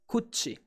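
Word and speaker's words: 口: The kun reading is kuchi.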